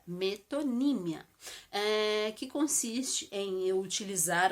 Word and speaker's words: metonímia: conhecida é a metonímia atenção é assim que se pronuncia metonímia Em que consiste em